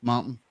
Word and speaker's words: Martin: Nobody's ever pronounced the T in my name. It's Martin, right? It's just Martin. The T doesn't get pronounced.